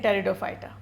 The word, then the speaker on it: Pteridophyta: erect they remain flat p is silent in pteridophyta in the territophytes what